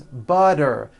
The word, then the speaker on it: butter: make things easy so if a letter T falls between two vowel sounds which are voiced so if it falls